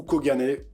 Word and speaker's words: Kogane: il va falloir maintenant m'appeler Koga, ou Kogane, ou Kogan si vous avez du mal.